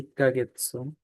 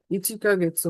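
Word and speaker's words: 一ヶ月: তাহলে এই জিনিসগুলোর উচ্চারণটা একটু ভিন্ন, যেমন হচ্ছে ইচিকা গেতসু হওয়ার কথা, তো ইচিকা গেতসু না হয়ে হচ্ছে হচ্ছে ইক্কা গেতসু।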